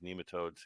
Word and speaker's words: nematode: it pronounced both ways my Oxford American Dictionary says that it's nematode with a long e although you hear it